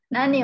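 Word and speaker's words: 何: Nani ini kanji nani ya, supaya ini aja, apa namanya, membiasakan. Ini kanji ini nomor tiga, dibacanya nan atau nani. Bisa nan, bisa nani.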